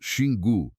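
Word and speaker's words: Xingu: Then travel to the headwaters of the Shingu River, pronounced Shingu, in the southern Amazon of Brazil, and you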